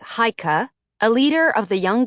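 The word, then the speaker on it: Chajka: Hika Klinger pronounced in English as Hikah a leader of the young guard and the fighting organization in Benjin.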